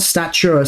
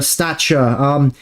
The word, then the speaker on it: Stacher: Not Stature, Stature. It's spelled Stacher.